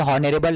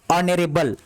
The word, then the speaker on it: honorable: अब यहाँ पे देखो ये HONORABLE, ये क्या है, आप पढ़ोगे सर ये कहोगे ये तो हॉनरेबल है, नहीं, यहाँ पे H ये साइलेंट होगा और हम यहाँ से पढ़ेंगे, और इसको हम क्या पढ़ेंगे, ऑनरेबल, क्या पढ़ेंगे इसको, मेरे साथ पढ़िएगा आप, ऑनरेबल।